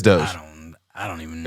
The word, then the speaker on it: Doge: It's Doge.